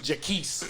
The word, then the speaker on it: Jacquees: He can't even say his name right. Nigga, that is Jaquise.